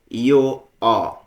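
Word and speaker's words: io ho: ইয়ো অ। ইয়ো অ অর্থ আমার আছে। ও লিখেছি, উচ্চারণটা কিন্তু স্বরেও মানে অ হবে।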